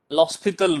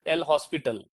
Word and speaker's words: L'Hospital: Just need not to tell, but many students they may be pronouncing this as L hospital. Okay, but the pronunciation L and H, there is no actually gap between L and H. It is the way they write their name. Okay, L'Hospital. So the pronunciation is L'Hospital rule.